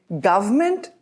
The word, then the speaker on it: government: In British pronunciation, we say government, and in American English, they say government, government. The government is trying to help the farmers by introducing new loan schemes. Now notice V, government.